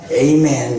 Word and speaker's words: 아멘: 혀를 꼬아서 에이멘 이렇게 말합니다. 그런데 원래 헬라어식으로 발음한다면 아멘이죠.